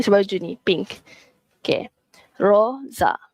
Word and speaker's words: rosa: Roza is pink. Okey, pink macam baju ni. Pink. Okey, Roza. Dia bukan rosa tapi Roza.